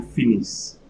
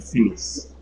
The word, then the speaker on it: finissent: Ils finissent, so here we have ENT at the end, but since it's a verb, we are going to pronounce ENT as simple E, French E. Ils finissent.